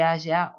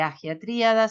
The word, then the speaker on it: Hagia: norte del sitio de Hagia o de Hagia Tríada, se pronuncia de las dos maneras, un antiguo asentamiento minoico grande y rico en el centro sur de Creta.